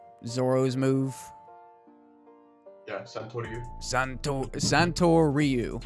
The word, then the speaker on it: Santoryu: Santoryu. Zoro's Move. Yeah, Santoryu. Santoryu, like Ryu from Street Fighter, right?